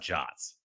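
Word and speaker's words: JWT: i wanted to learn about jots so jason webb tokens do you call them jets i think that's the official pronunciation i i saw this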